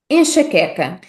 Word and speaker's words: enxaqueca: Repetindo a pronúncia da palavra sílaba a sílaba, ficará algo como em, xa, que, ca. Enxaqueca. Enxaqueca.